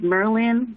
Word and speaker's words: Merlin: merlin theater and yes it's pronounced like merlin like the magician but unfortunately i have